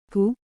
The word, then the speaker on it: Ku: Ku, pronounced like hu, which is associated with the spleen.